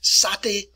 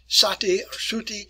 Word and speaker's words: sati: the indian practice here called satay satay and sometimes it's spelled that way in english anyway and sati is a tradition as